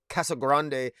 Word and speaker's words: Casagrande: uh casa grande uh i wrote down how to pronounce that name because i always pronounced it wrong but i believe i said that right elena cross a casa grande uh on the art